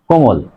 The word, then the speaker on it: কোমল: কোমল, কয়কার ম ল, কোমল, এখানে দেখো মাঝে আছে ম, এই মর সাথে কোনো কার চিহ্ন নেই মানে অ, মাঝে অ আছে, তার আগের বর্ণ আছে ওকার, সে কারণেই এই মাঝের অ এর উচ্চারণ ও এর মতো হবে, তাহলে কয়কার ময়কার ল হস, কোমল, কোমল, কোমল।